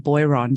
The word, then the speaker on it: Boiron: Now, I'm just going to say, in Australia, we would pronounce the company name Boiron.